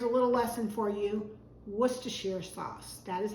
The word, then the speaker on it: Worcestershire: parsley some here's a little lesson for you Worcestershire sauce that is how you pronounce it if you go to England Worcester